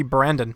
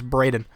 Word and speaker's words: Braden: Nick's at number six I keep like just struggling to say his name I keep wanting it to be Brandon but it's Brayden Jacoby reset is the